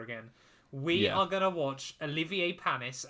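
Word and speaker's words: Olivier Panis: we are gonna watch Olivier palmis and I did make sure to say his name correctly um not Roger Thomas version not Richard Hammond's version no um we yeah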